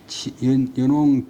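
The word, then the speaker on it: 吮: 연옹 지치요. 대적 시부여 군이니 개생어 환실이니라. 작게는 이제 잃는 것을 정하는 것 중에서 작게는 이제 이 사람들한테 잘 보기 위해서 빨연, 발음이 윤이 아니고 연.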